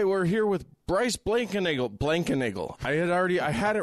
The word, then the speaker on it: Blankenagel: Yeah, having a four syllable last name is, you know, it's kind of like a feeling of notoriety.